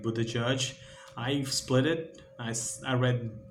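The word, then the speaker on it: Buttigieg: It's most like a Buddha Judge.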